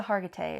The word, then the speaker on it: Hargitay: But anyways, And Mariska Hargitay is gonna be the host.